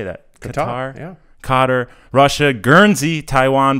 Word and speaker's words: Qatar: We have these listeners, Bahrain, China, Philippines, Qatar. How do you say that? Qatar.